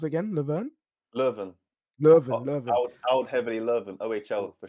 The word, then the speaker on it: Leuven: How'd you pronounce it again? Leuven? Leuven.